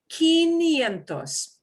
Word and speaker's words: quinientos: should be cinco and it's not cinco it is keen it's the king that you used with keen say 15. so it is still a five base number it's just more latin-y than than the spanish so we've got quinientos and it sounds like keen like the king from kinsei nientos and notice that in